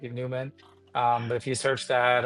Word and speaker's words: NVMEN: I thought the V looked cooler, but it's still pronounced like Newman.